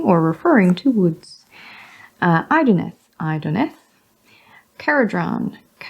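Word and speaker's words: Kharadron: Caradron, with the k as in cat.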